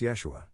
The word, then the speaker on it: Yeshua: don't care for yod jesus is actually pronounced yeshua i doubt he would